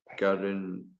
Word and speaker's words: Gandolfini: Patricia Arquette, James Gandolfini. What the hell? How do you say his last name? Gan Uh, something like that. Gandolfini.